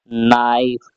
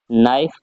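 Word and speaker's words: knife: आ रहा है के के बाद एन आ रहा है यानी के साइलेंट होना है तो इसे भी हम पढ़ेंगे नाइफ क्या पढ़ेंगे नाइफ पढ़ेंगे अगर हमारा वीडियो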